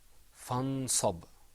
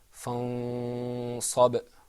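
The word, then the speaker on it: فَانصَبْ: So let the example that you see is pronounced without ikhfa, fansab. With ikhfa, it's pronounced fansab.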